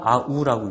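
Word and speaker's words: αυ: 그냥 앞에 건 아이, 뒤에 거는 아우라고 있죠. 아위가 아니고 그 다음에 세 번째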